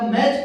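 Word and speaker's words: match: यहां पे ध्यान दीजिए दोस्तों, टी ई एन में हमारा सीधा टी साइलेंट होके लिसन पढ़ा जा रहा है, वहां पे हम सीधा मैच पढ़ रहे हैं, टी को बिल्कुल छोड़ दे रहे हैं।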